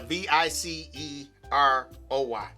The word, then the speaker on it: Viceroy: and it was called Viseroy. Okay, not Viceroy. Might say Viseroy. Maybe I am saying it wrong. Okay, I don't know. A V I C E R O Y. That's Viceroy. Viceroy.